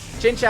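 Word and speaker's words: Chinchou: on the other Pokemon chincha or chincho chincha actually is the prop pronunciation or pronunciation I said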